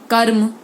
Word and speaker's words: कर्म: हो और किसी वर्ण के ऊपर लगा हो तो उस समय र का आधा ही बोला जाएगा, जैसे कर्म, ठीक है, मर्म, शर्म। इसमें देखिए म का तो और श का, क का ज्यादा उच्चारण होला, लेकिन र आधे रूप में ही प्रयोग किया जा रहा है।